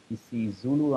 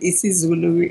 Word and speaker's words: isiZulu: I understand that this particular access or one of these access, you were exposed or you learned Isi Zulu. Am I pronouncing this correctly, Kwanele? That's correct. That's correct, Isi yes.